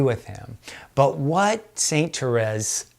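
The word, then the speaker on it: Thérèse: But Saint Teresa says, Saint Therese, the French pronunciation, Saint Teresa of Lisieux or Saint Therese of Lisieux, she said, every little denial that you make to yourself.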